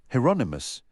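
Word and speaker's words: Hieronymus: How do you say that name? Heronomous. It rhymes with anonymous.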